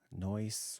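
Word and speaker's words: Noice: Um just started streaming on Noise, which I'm assuming is how you say it. Um it is N O I C.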